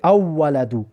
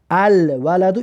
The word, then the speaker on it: الولد: اینجا قمری آورده است، بخاطر که لام تلفظ میکنیم نمیشه بگیم اولدو. الولدو این واوی قمری هسته، برای خاطر لام تلفظ میکنیم الولدو.